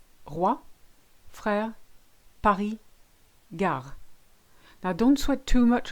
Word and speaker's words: gare: Roi, frère, Paris, gare. Now don't sweat too much about this one. In the northern half of France, this is how we pronounce it, gare.